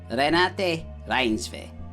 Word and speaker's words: Renate Reinsve: And this lady is, Renate Reinsve. You know, it's important to pronounce people's names right.